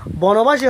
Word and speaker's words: বনবাসী: ঠিক এরকম হলন্ত উচ্চারণ হচ্ছে যখন বনবাসী হচ্ছে, তখন উচ্চারণটা হবে কি বনবাসী, অর্থাৎ দন্ত নয়ের মধ্যে কি ওবোধ হচ্ছে, অর্থাৎ দন্ত নয়ের সাথে অ ছিল, অটা তখন কি হচ্ছে? ওবোধ হচ্ছে, বনবাসী।